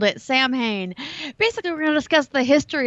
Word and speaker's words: Samhain: the Celtics that's what the Celtics called it Samhain basically we discussed the history of Halloween from its traditions with the ancient Celts starting with soin and how it has been redefined through the